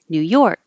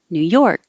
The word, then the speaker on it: New York: lips too much rural New York this dress is on the second part New York and same for the